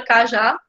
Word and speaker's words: cajá: Por exemplo, a palavra cajá, imaginem que a palavra cajá não tivesse esse acento aqui, a gente identificaria que o já seria a sílaba mais forte. Você não ia dizer cajá, né? Você não ia dizer cajá, você ia dizer cajá. E aí o já sempre vai ser o mais forte.